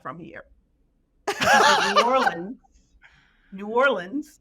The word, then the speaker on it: New Orleans: from here New Orleans New Orleans not New Orleans locals say New Orleans New Orleans so you